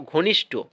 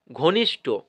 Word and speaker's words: ঘনিষ্ঠ: ট কিন্তু হয় না ঘনিষ্ঠ হয় ঠ ঠ উচ্চারণ হবে ঠিক আছে ঘনিষ্ঠ অর্থাৎ